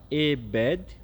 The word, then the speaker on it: Ebed: Ebed, com D mudo, e depois o Melech, com C mudo também.